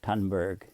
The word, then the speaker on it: Thunberg: Greta Thun burg effect or Greta tunberg as the pronunciation goes and definitely that this